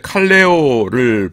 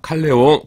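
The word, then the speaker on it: καλέω: 지난 시간에 마지막에 칼레오를 보았습니다. 칼레오. 콜과 뜻이 같고 발음도 비슷하죠. 칼레오 콜.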